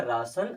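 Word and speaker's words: ration: ये हो जाएगा नेशन अभी आपको देख कर के लग रहा होगा कि यहां पर एन के बाद में ए है यहां पर आर के बाद में ए है लेकिन यहां पर ए की तरह उच्चारण किया गया और यहां पर बड़ा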